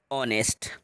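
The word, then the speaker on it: honest: इसका correct sound देखिए इसको पढ़ेंगे ऑनेस्ट क्या पढ़ेंगे क्योंकि ये जो आगे इसमें आया है आगे साइलेंट है क्या है हा हा साइलेंट है अब इस हा को छोड़ के पढ़ेंगे तो वो जो है आपका साउंड देगा तो ऑनेस्ट अब एक बोल है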